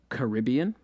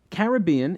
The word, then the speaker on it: Caribbean: By the way, is Caribbean more correct than Caribbean? Caribbean is the older and more ubiquitous pronunciation, but beginning in the 1930s, Caribbean began appearing in dictionaries as an alternate pronunciation, allegedly with British origins.